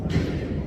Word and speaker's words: aletheia: So in Greek the word was aletheia, or in the modern pronunciation aletheia.